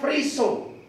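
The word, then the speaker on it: φρίσσω: Bacanya phriso. P-H-R-I-S-S-O. Tulis, kalau dibaca secara bahasa Indonesia, phriso, tetapi dalam Yunani dibaca phriso.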